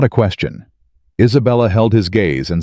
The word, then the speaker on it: Isabella: Isabella. He said it the Italian way. All four syllables present and unhurried.